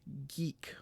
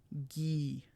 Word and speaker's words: gii: Therefore, G-I-I is pronounced like the English word geek without that K sound. So G-I-I is pronounced gee, not G.